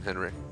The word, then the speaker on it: Henrik: Shout out to Henrique, what is up? How's it going? I'm just kidding, Henrik. It's forever gonna be a partial joke. They let me pronounce it wrong all that time.